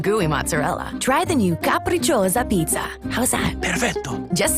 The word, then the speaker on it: capricciosa: Try them on the Caprico's. Wait, how do you say this? Capricciosa. It's capricciosa. Oh, thank you.